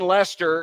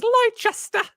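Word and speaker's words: Leicester: the crystal palace okay i want lester but i still want to pronounce it as lychester wow that's fun going against what the people of that country call it tough look for nick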